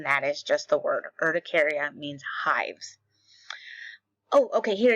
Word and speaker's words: urticaria: And it is again, I looked at the pronunciation. Urticaria.